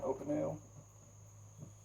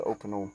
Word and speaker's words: Opinel: Opinel.